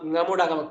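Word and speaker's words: ङमुडागम: Ngamudagama. Kakha, gaga, nga. This is the Ngamudagama. Ngamudagama. It is written quite similarly. See, you see this dot. If you miss the dot, you would pronounce it as Damudagama.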